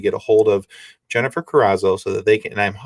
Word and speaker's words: Carazo: asked you before but i'm hoping i'm pronouncing your last name properly you are there you are i'm impressed it's good very good all right well with